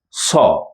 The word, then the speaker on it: ص: again the soft batter but this one is saw okay let's now concentrate on this group saw sound it's like the sound you make whenever you want someone to keep quiet right so okay I need